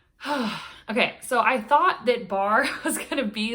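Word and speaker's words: barre: so i thought that barr was gonna be like i don't know if any of you guys have done bar b-a-r-r-e that's how you spell it but it's like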